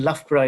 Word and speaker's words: Loughborough: so much aware of lafpra as a place it's more or less at the center of the country and it's not too far from london um and lafra is how you pronounce it i think that's where